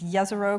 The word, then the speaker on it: Jezero: it's going to be jezero crater I think I'm told the correct pronunciation is yero crater um which is a